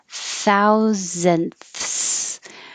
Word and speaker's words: thousandths: Thousandths.